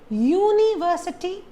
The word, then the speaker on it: university: you say it as University or university no you just have the stress on ver you say University similarly